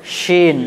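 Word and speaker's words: شين: এবং যার মধ্যে নোক্তা থাকবে তিনটি তার সেই অক্ষরটাকে আমরা উচ্চারণ করব একটুকু মোটা করে, অর্থাৎ তালবির স দিয়ে উচ্চারণ হবে, অর্থাৎ তালবির স দিয়ে উচ্চারণ হবে। যেমন উচ্চারণ করেন শিন, যেমন শিন।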